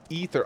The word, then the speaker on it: Aether: Aether is pronounced Ether IRL, but Aether is the fantasy pronunciation. Yes, thank you, Bard. I agree. Ether is like Ethernet.